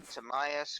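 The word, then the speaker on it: Timaeus: It's Tamias, Critius, and Hermos.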